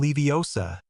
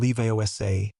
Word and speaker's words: Leviosa: "Wing guardium leiosa!" he shouted, making the feather jump slightly. You're saying it wrong, Hermione said, unable to help herself. It's Wing Gi Ardam Leosa, not Leiosa.